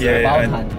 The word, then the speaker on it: Obaltan: Remember, it's Obaltan. I knew that. Oh, it's called Ujatang. Obaltan. Can you pronounce it, Sam?